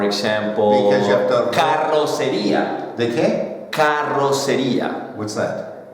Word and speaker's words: carrocería: What's the most difficult word to pronounce in Spanish for you? The double R's. For example, Because you have to- carrocería.